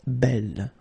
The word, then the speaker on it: belle: So it's actually quite interesting because these two forms, so the second masculine form and the feminine form, are phonetically the same. It's belle.